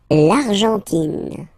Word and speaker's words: Argentine: L'Argentine. Okay, so you get this nasal here. En, l'argent, and then tin. Don't pronounce the final E. It just gives you the pronunciation of the N.